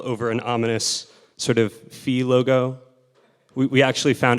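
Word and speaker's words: Ф: an ominous sort of fee logo we we actually found out Midway through the project that the proper Russian pronunciation of this ceric letter is f which is a little less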